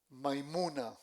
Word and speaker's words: Maimuna: Su esposa se llamó Maimuna. Se escribe m a Y m u n a maimuna.